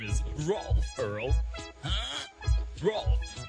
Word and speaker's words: Rolf: The name is Rolf, Earl. Huh? Rolf. My name is pronounced Rolf the Wolf, not Ralph.